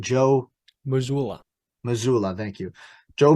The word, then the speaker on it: Joe Mazzulla: Joe Mazzulla. Mazzulla, thank you. Joe Mazzulla, you've done a great job in the regular season.